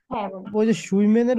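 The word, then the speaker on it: schwimmen: দিবেন তারপর একটু মাঝখানে একটু কথা বলি আমি সুইমেনের উচ্চারণটা কেমন হবে যে মানে সাঁতার কাটার উচ্চারণটা একটু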